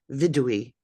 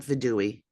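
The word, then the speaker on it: וידוי: word word obviously and the pronunciation is vidui not vidui vidui just and I think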